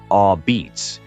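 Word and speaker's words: apizza: New Haven became known for a pizza pronounced locally as a beats with a thin charred crust produced in extremely hot ovens.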